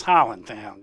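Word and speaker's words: Highlandtown: beginning the story starts in the in the Highland town in the Greek Town section of Highland town or actually the correct pronunciation is Holland town you you have to be a b an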